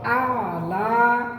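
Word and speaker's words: أعلى: রাব্বিয়াল রাব্বিয়াল আলা আলা আ প্রথমে আ আ আর উচ্চারণটা শুরু হয়ে আইন ধরতে হবে। আলা আলা আলা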